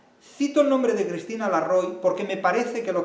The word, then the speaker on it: Larroy: nuestras aulas universitarias Cristina Larroy lo pronuncio con español en español no a la francesa Cristina Larroy catedrática y